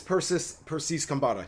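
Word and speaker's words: Persis Khambatta: It's Persis Kambata.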